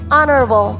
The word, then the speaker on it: honorable: is honorable honorable now the word stress here is on the first syllable honorable not honorable these businessmen are both